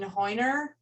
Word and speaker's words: Hoyner: question is from hoyner i'm sorry if i mispronounced your last name no you said it right that's the german pronunciation but i go by hewner either way okay so